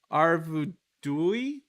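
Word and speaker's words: Arvedui: i did so uh is the correct answer arvudui what'd you say how do you say his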